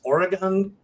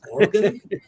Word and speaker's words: Oregon: And I guess I pronounce Oregon incorrectly. It's Oregon. Yeah. If you're from the West Coast, it's Oregon. It's Oregon. Oregon.